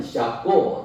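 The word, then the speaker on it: Jacó: 사람은 도대체 어떤 사람일까 브라질에서는 잡고 이렇게 발음을 합니다 작고이 야곱은 리브가의과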